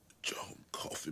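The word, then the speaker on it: Coffey: tumor what's your name coffee man like the drink only not spelled the same so she remembers some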